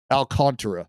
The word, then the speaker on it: Alcantara: ] name alcantra because everyone says it it's just not spelled that way not not CH like Alcantara so terra terra Alcantara Alcantara San Diego so